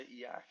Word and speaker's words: e/acc: How do you pronounce it again? EAC? Well, EAC, yeah, I say EAC.